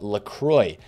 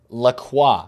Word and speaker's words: Lacroix: But of course, since he is French, I'm doing the fellow Frenchmen that watch these videos, and of course this man himself, a disservice by pronouncing it that way. So I believe it is now supposed to be pronounced LaCroix, basically.